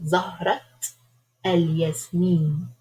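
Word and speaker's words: زهرة الياسمين: But if it is the flower of jasmine, for instance, like Zahrat al-Yasmin, so we have to pronounce the ya. A native speaker will pick it up very quickly if they don't hear this connected.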